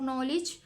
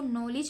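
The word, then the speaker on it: knowledge: और नॉलेज हम इसको नॉलेज नहीं पढ़ते। हम इसको नॉलेज पढ़ते हैं। तो ये जो के साइलेंट है यहां से और यहां से डी साइलेंट है।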